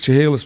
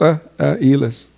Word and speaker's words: Chehalis: So everybody says Chehalis, but it's properly pronounced Elis.